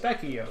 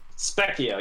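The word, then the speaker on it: specchio: now we're gonna introduce it's pronounced spekio right spekio yes is that a reference to something uh it's italian for mirror oh cool the speccio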